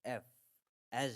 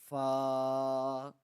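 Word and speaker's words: ف: It is pronounced similarly to the English letter F, as in F for fish. So this is called fa, fa.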